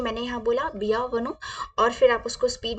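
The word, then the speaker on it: bienvenue: में कैसे बोलते हैं तो हम वेलकम को फ्रेंच में बोलते हैं बिया वन कैसे बोलते हैं बिया वन आप फ्रेंच को अ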